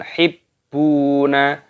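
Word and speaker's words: تحبون: Wa tuhibbunal mala hubban jamma. Wa tuhibbunal mala hubban jamma. Wa tuhibbu hibbu. Tasdid pada baknya dimasukkan, ditekan, hibbuna. Wawu sukun dipanjangkan baknya, matobi'i 2 ketukan.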